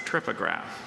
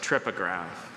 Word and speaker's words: trypograph: That's a tripograph. Can I have the language of origin? It's formed in English from ultimately Greek parts. Are there any alternate pronunciations? Just tripograph.